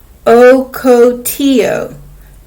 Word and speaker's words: ocotillo: save water let's look at the caption it's pronounced ocotillo ocotillo plant before the rain pause and read page